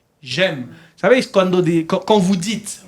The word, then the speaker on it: j'aime: J'aime. Vous savez, quand vous dites votre âge, vous dites j'ai 20 ans. Tengo 20 años, ¿no? Et j'aime, es la misma pronunciación que tengo.